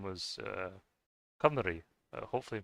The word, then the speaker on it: Cymru: I've even experienced it myself, listening to songs sung in Welsh or in Cymru.